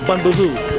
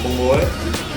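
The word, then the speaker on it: bún bò Huế: I heard they got the best bumbleway, or bun boo hoo, if you're a noob like me, but it's actually pronounced bumbleway.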